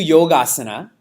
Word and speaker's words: yogasana: You do yogasana before class, right? So a couple of thoughts on that. It's pronounced yoga. How do we pronounce it? Yoga. Like it's more exotic. It's yoga. And it's yogasana.